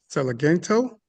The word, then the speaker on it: Celigento: with us tonight Celigento. Is that right? You said it right. It's Celigento.